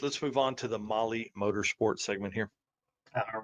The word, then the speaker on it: Mahle: Well, because earlier today we got an email from Molly, and they are giving away a full Molly Motorsports Power Pack piston kit at the circuit.